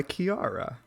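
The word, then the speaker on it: Kiiara: of our trip to colorado is gold by kiara i think it's how you say her name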